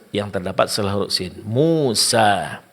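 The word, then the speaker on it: موسى: Pengucapan alif di sini itu tidak akan sempurna kalau dalam pengucapannya kedua bibir itu tidak dibuka. Yaitu mulut tidak dibuka. Umpamanya kita membuka sedikit saja dari bibir kita, maka bunyinya itu tidak sempurna.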